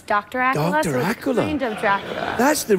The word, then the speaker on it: Accola: look very swish Candace AA sounds a bit like Dracula it does that's how I try to pronounce it on the phone when people Miss really yes you say hello it's Miss Acula yes that's exact Acula